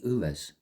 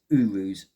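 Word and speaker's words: Uruz: I want to say Uras, something like that. But I will just double check in my book to get the pronunciation just right on that. I was so close. It's Urus.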